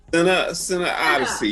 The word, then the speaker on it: CineOdyssey: CineOdyssey, yeah. Okay. Cine is actually short for cinema.